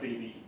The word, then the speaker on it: Beebe: It's pronounced Beebe.